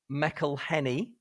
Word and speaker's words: McElhenney: I'm going to go from McElhenney. Is that how you pronounce it? Yeah, good.